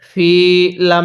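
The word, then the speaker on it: الفيل: ফিল তাহলে বি আসহাবিল ফিল ওয়াকফের একটি নিয়ম হলো যদি শেষ হরফের নিচে এরকম জের থাকে তাহলে সেটিকে বাদ দিয়ে দিতে হয় অথবা উপরে জবর অথবা পেশ থাকে তাহলে সেগুলোকেও বাদ দিয়ে দিতে হবে এবং শেষ হরফটির মধ্যে এরকম একটি সাকিন দিতে হবে এখন যদি আমরা লামের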